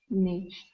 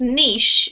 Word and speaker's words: niche: Thank You lovely Monica this word here is pronounced niche if you have a British and niche if you're American okay good question does